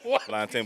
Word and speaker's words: plantain: Plantain, but they be plantain. Let's not do this. I mean, Let's not do this. plantain is the A is silent, bro. The A is silent. Plantain.